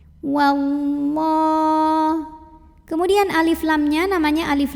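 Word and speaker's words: والله: Wallah. Lam jalalah dibunyikan secara tafkhim karena huruf sebelumnya yang waw berbaris fathah. Maka dibacanya tebal, pangkal lidah dinaikkan. Wallah.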